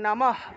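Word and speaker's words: নমঃ: মত উচ্চারণটা হবে তারপরে বিসর্গ বিসর্গ যদি বাক্যের বা শব্দের মাঝখানে থাকে তাহলে অর্ধহ উচ্চারণ হয়। অর্থাৎ হসন্তযুক্ত একটা হ উচ্চারণ হবে। তাহলে উচ্চারণটা হবে ওম নমহ। এইযে এইযে নম এর পরে যে বিসর্গটা আছে এটা দেখুন একটা লাইনের মাঝখানে আছে। এই বিসর্গটা একটা লাইনের মাঝখানে আছে। ওম নমহ ভগবতে।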